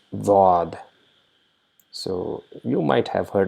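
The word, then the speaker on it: ضاد: It is almost similar to D in English, but it is not D. So it is D with a rounded shaped mouth. So, and there's a very slight sound of Z.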